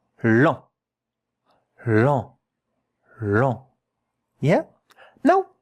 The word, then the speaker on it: lent: And here, E and N, those two letters, are pronounced en, and it is a nasal vowel. It means a bit of air has to come here out of your nose when you pronounce it.